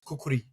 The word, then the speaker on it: kukri: yeah yeah but I a nepali friend of mine said it's kukuri kukuri okay yeah kukuri but we can say kukri yeah so yeah I